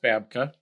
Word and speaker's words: Babka: What what kind of beginnings did does have? Okay. Well, I just want to make one tiny thing. My last name is pronounced Babka.